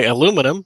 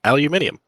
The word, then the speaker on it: aluminum: Which is why aluminum is the correct way to say aluminium because an American scientist